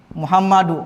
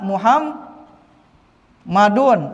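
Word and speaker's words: محمدُ: Ya Muhammadu. Enggak boleh dibacanya ya muham madun. Ini tanwin ini salah. Paham ya?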